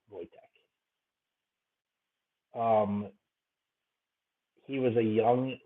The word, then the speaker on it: Wojtek: Wojciech the Polish war bear. Wojtek is how they pronounce that. Wojtek.